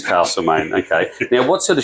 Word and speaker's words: Castlemaine: thanks for joining us castlemaine or castlemaine what's the correct pronunciation I've always said Castle mate I've been to the theater castlemain and that they insisted Castle it is castlemaine okay now what sort